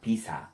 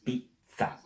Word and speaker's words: pizza: You must, not you have, you must pronounce the double. Because we read what we see. So this word, it's not bella, it's bella. This is not mama, it's mamma. And this is not pizza, it's pizza.